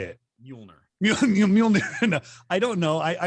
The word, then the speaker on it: Mjolnir: It's Mjolnir is how you say it. Mjolnir.